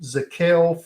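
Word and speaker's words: Zakelj: But you have Dylan Parham from Memphis, Nick Zakel from Fordham, the J is silent, Cole Strange from Chattanooga,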